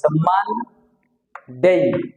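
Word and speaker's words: Monday: বলে থাকি আমরা এটা মান ডেই দুইটা সিলেবাল আছে এটার ভিতরে মান ডেই নিচে একটা দাগ আছে চাপ দিয়ে বলতে হবে এটা সানডে মানডে একইভাবে আমরা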